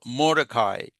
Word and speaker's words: Mordecai: She was in exile, but Esther was a Jewish woman who was raised by her uncle Mordecai. Okay, Mordecai. So I think I'm pronouncing it correctly because I was just watching